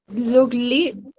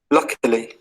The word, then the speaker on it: luckily: Luckily. Luckily. Luckily. You can say luckily. The stress in the first syllable.